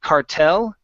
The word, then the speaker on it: cartel: So we have cartel. So yeah, we're going to pronounce that with the same stress. Okay. We just say it more gringo, right?